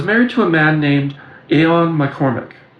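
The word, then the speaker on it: Eoin: I was a woman with light skin, long reddish hair, and I was married to a man named Aon McCormack, it's spelled E O I N, who worked daily at a water powered sawmill.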